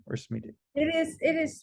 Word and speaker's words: Smiti: i'm probably mispronouncing your name what's the correct pronunciation is it smeaty or sweetie it is it is smithy um oh okay there you go all right